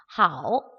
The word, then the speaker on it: 好: 자, 두 번째 나와 있는 거 얘는 好 라고 읽습니다. 하, 오. 어디다 성조 표시하죠? 네, A 위에다가 삼성. 好 중국어로 안녕하다.